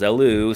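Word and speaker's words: Elw: it's confusing as hell apparently the water arms Wiki says it's pronounced as Aloo so let's just go with that I guess anyway a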